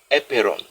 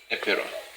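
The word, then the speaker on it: apeiron: Now, Anaximander went further to say that anything that qualifies to be a basis of reality must be the epeiron. Epeiron is spelled A-P-E-I-R-O-N.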